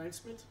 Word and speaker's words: Klijnsmit: That's maybe a little bit easier to pronounce for people. Klijnsmit?